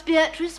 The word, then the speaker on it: Beatrice: Julia, pronounce Beatrice for us in the Italian manner, please. Beatrice. Beatrice. Which makes it very beautiful.